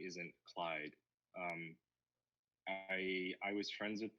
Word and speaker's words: c1yd3i: you look good no you can call me Clyde because I think c1y d3i means Clyde it's a funny story